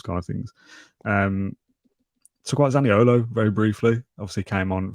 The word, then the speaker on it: Zaniolo: Talk about Zaniolo very briefly. Obviously came on for his debut. something about Nicolozaniolo, isn't there? Or Saniolo, I think is the correct pronunciation.